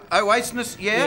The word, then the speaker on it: Oasis: how do I pronounce that? Oasis, yeah?